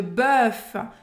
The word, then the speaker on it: bœuf: Bœuf, você vai fazer a boca do O e falar E.